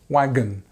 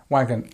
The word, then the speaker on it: wagon: smaller this is the schwar sound so it's wagon wagon even though it's an O we don't say